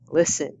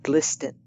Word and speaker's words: listen: the K is silent listen not listen honest not honest honest